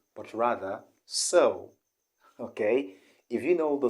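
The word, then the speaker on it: Seoul: i want you to know that the correct pronunciation of the city is not ceo but rather so okay if you know the spelling s-e-o-u s-o-u-l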